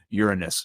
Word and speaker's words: Uranus: stop myself and go okay Uranus make sure you that you you don't drag out the middle because that completely changes